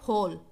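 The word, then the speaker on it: whole: फॉर इसे यह है हॉल यह डब्लू से स्टार्ट होता है लेकिन इस में डब्लू साइलेंट है इसको हम रीड करते हैं हॉल और हॉल के साथ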